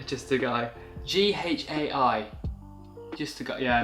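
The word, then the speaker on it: Ghai: I'd probably say just a guy. Just a guy. G-H-A-I. Just a guy. Yeah, maybe just a guy. Yeah, because it is like Thai, but with a G.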